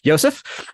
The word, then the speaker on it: Josef: And Josef Woldense, I'm going to use the German pronunciation since you grew up in Germany. Josef is an assistant professor